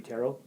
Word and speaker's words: tarot: thing or I think because it's a French word it should be terot okay and I kept saying teret because that's how it's spelled yes it is yeah there's te at the end yeah so it's always